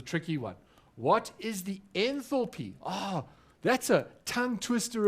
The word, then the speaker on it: enthalpy: you say it again john n for p enthalpy yeah enthalpy it's a very important thermodynamic principle and we